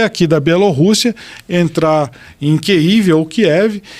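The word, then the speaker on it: Kyiv: de kívia Capital ucraniana eu chamo de keiv que é a pronúncia que a imprensa começou a a adotar tá que é a pronúncia ucraniana por quê Porque é uma cidade que tá na mão dos ucranianos eles falaram agora chama a gente de keiv não de Kiev porque Kiev é a pronúncia russa mas estamos falando da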